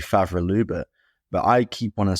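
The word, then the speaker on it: Favre-Leuba: five different ways already I believe it's supposed to be faval Luba but I keep wantan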